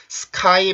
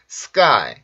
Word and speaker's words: sky: sky 발음이 아니고 요거로 바뀌겠죠. 그래서 sky, sky, sky, sky, sky, sky.